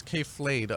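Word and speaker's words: K.Flay: the name of it well K Flay that's how you say her name but I don't want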